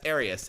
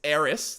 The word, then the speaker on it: Aerith: was pronouncing Eris as Arius, and he was actually totally right about that. Like all this time, I've been pronouncing a name that's Eris. There's no third syllable obvious there.